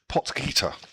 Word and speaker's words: Potgieter: Yes, how do you pronounce his name, Kevin? Potgieter.